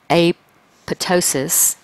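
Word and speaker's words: apoptosis: going to promote apot AP apotosis which is how that's normally pronounced okay and that's going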